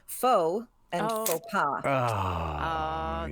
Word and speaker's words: faux: I only know 2 words, but the same element is silent. It's faux and faux pas.